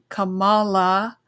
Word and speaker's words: Kamala: But Michaelah, I think she does a great job, explaining and getting you to understand that Kamala, that's how they say it's supposed to be said, but whatever.